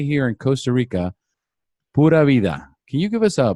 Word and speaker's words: pura vida: And as we say here in Costa Rica, pura vida.